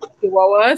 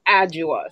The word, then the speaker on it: Adjoa: We're calling it Adjoa, saying it exactly how it's spelled, and this goes to show you how we how our English is, that we literally have to say it exactly how it's spelled, but it's actually pronounced Adjua.